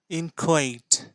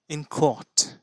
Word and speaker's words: inchoate: গো গো ও সো ইনকোয়েট ইনকোয়েট এবং ইনকোট ইনকোট যেটা পছন্দ হয় সেটা আপনারা উচ্চারণ করতে পারবেন এর অর্থ হচ্ছে বিগিনিং